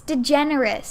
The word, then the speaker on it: DeGeneres: how is it pronounced I don't know it's pronounced you're totally watching this it's DeGeneres DeGeneres have you never heard anyone say Ellen